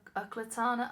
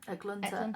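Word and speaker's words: Eklutna: So she became to be known as Uklatana Annie. Is it, how do you say it? Eklunta Annie. Sorry for saying that wrong.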